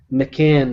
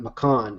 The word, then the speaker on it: McCann: It's McCann, not McCon, and I may have pronounced her name McCon before previously, so it's McCann.